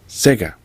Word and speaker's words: SEGA: It didn't say SEGA, it said SEGA. Like the Japanese. So that's okay as well.